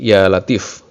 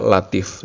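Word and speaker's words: يا لطيف: Latif sebanyak 1000 kali membacanya harus ditambai huruf ya di depannya sehingga berbunyi Ya Latif tidak boleh hanya dibaca Latif saja setelah selesai membaca Asmaul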